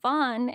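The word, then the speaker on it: van Ree: were saying re but apparently van is pronounced Vaughn and instead of Tasha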